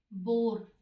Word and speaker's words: boar: 35 में देखिए एक वर्ड है बोर, BOAR, और एक वर्ड है बोर। दोनों का प्रोनाउंसिएशन सेम है, स्पेलिंग समझो, BOAR है और BORE है, ठीक है।